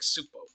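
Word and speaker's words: Csupo: sat there and listened, because remember, I like again phonetically it sounded like Supo, like soup bowl, but without the WL.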